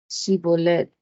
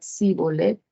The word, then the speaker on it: Shibolet: Si respondían que no, les pedían que dijeran Shibolet. Y si el fugitivo decía Sibolet, porque no podía pronunciar esa palabra correctamente, le echaban mano y lo degollaban junto a los vados del Jordán.